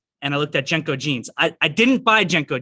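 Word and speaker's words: JNCO: trading got it no so i didn't know jenko jeans at all in fact i was going to spell it as j-e-n-k or a sentence that's actually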